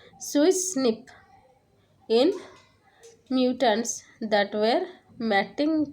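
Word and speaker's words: SWI/SNF: Two best family remodeling complex SWI by SNF pronounced as Swiss SNP in mutants that were mating type switching defective SWI2 and sucrose non-fermenters that is SNF2.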